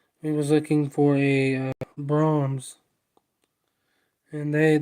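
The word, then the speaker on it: Braum's: of him see it's brahms is spelled uh b-r-a-u-m-s but it's like brahms is like amazing it's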